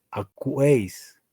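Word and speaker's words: ἀκούεις: Pero aquí se leería, lo que están viendo, los que están atentos, diría esta palabra, ¿cómo se pronuncia? Sería acuo, acuo, acuo, acuo. En segunda persona, tú sería acuéis, acuéis.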